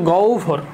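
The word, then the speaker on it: গহ্বর: তো এই গহবরের উচ্চারণটা কিন্তু আসলে গহবর না। উচ্চারণটা হচ্ছে গৌভর। গৌভর গ রসু রসু গৌ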